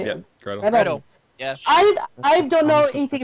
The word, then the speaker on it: Gretel: let me see if I get this right, Gretel? Is that how you say it? Yeah, Gretel.